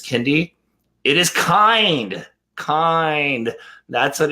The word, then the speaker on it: Kiinde: But nonetheless, regardless whether it's Kiinde or Kiinde, it's such a good kit. I was saying it wrong for a while too.